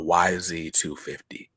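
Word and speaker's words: YZ250: i agree uh also it's pronounced with the letters y and z it's the model the dirt bike i have a yamaha yz-250 got it got it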